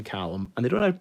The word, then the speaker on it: Calum: not heard the name column and they don't have to pronounce it Calum is that your name no it's like calzone II um you going to